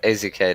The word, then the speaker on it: AZK: Not Isaac, it's AZK, dude.